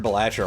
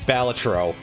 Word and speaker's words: Balatro: I just turn Belacher on again and come up with even more silly pronunciations for it. It's Balatro. Because it's based off I almost said Greek word, a Latin word.